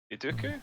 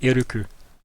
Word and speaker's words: Iruku: Iduku, is that? No, Iruku.